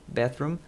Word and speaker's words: bathroom: Bathroom, banheiro. Então, eu levanto e vou para o banheiro. A pronúncia aqui, atenção para a pronúncia de bathroom. É aquele TH, som de TH, língua entre os dentes.